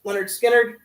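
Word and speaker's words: Lynyrd Skynyrd: Leonard Skard with their first album pronounced Leonard Skard.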